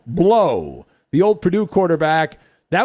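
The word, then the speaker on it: Blough: quarterback is uh david blau who should pronounce his name blow the old purdue quarterback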